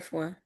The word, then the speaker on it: Fois: Fois. Like Fois. FOIS, like foie, like foie gras.